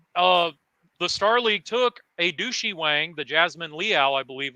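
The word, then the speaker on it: Du Shi Wang: my second favorite battleship of all time, the Douchey Wang. Oh, wow. DU space. Please tell me that is not how you actually pronounce its name.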